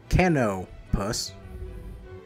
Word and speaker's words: Canopus: Canopus. Yeah, that's how you pronounce that.